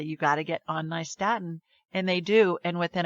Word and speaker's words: nystatin: nystatin, which is spelled Nystatin. Statin, like New York and Staten Island, nystatin.